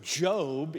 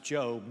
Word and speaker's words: Job: fact Scholars think this book The Book of Job in the Old Testament pronounced job not job as in the founder of Apple